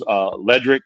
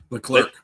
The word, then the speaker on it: Leclerc: Sonny takes out the third car in Charles Ledrick, or however you say this guy's name, in the Abu Dhabi. Yeah, how you say it? Leclerc.